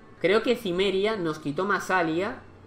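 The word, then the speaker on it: Massalia: En plan Masilia en vez de Masalia. Pero bueno. Genua, no sé qué. O sea, creo que nos lo han quitado Masalia, tío. Creo que Cimmeria nos quitó Masalia.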